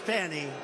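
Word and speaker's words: Fani: fonnie F A ni I it should be pronounced Fanny Fanny funny funny they say she gets very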